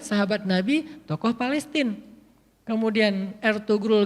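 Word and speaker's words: Ertuğrul: nabi tokoh Palestina kemudian ertugrul Gazi bacanya air turun Gazi karena ayahnya Usman gaji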